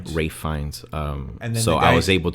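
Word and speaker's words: Ralph Fiennes: I mean, we actually before we started doing the podcast, we found out that uh Ralph Ralph Fenz is actually pronounced Ray Fines. Ray Ray Fines. Ray Fines.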